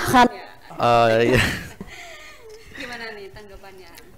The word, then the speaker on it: Khan: apa sebagai pemeran utam Salman Khan ya bacanya Khan ee Iya gimana nih